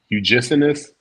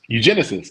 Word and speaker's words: eugenicist: Eugenist? like eugenics. Yeah. Am I saying that right? I feel like I ain't saying it right. Eugenist. Eugenicist. There we go.